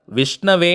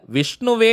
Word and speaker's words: விஷ்ணவே: ஓம் கிளீம் விஷ்ணவே நமஹ இந்த திருநாமத்துல விஷ்ணுவே நமஹன்னு நம்ம சொல்லக்கூடாதுங்க விஷ்ணவே நமஹன்னு நம்ம உச்சரிக்கணும் வாய்விட்டும் நம்ம சொல்லலாம் அல்லது